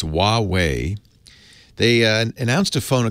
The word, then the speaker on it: Huawei: this is it wah whee whoo-hoo wah it's Huawei they announced a phone a couple months ago